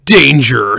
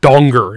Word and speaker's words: Danger: goes by Jackie and it's actually pronounced donger it's dutch so it went from